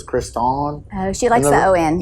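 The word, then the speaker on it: Kriston: so it's spelled like stuff on but it's pronounced Stefan my my sister's name is Kristen but it's k-r-i-s-t-o-n so it's Chris Dawn oh she likes to Owen yeah so the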